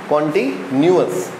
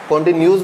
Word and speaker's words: continuous: ये कॉन्टिन्यूअस, कॉन्टिन्यूस बोलते हैं कुछ इसको, क्या बोलते हैं, कॉन्टिन्यूस। कॉन्टिन्यूस नहीं तो कॉन्टिन्यूअस होता है, ओके।